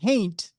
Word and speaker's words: haint: I got a couple of big white fangs in my According to Haunted History of Kentucky, a haint is like a taint with an H.